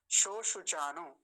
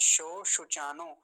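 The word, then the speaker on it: शोशुचानः: मुख्य बात क्या है, ये दोनों तालव्य शकार, तालव्य शकार का अच्छे से उच्चारण करेंगे तो क्या बनेगा, शो शुचानो। अब स नहीं बोलेंगे, स दंत्य सकार वाला, वैसा उच्चारण गलत माना जाएगा, ये वाला नहीं बोलना।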